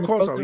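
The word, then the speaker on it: Cueto: Oh, Dario Quoto.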